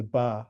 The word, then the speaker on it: ba: There's also the word by which we'd normally pronounce in um in Egyptology as ba.